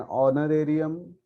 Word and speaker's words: honorarium: And honorarium. So देखो यहाँ पे honorarium again spelling starts with the h, pronunciation starts with the o.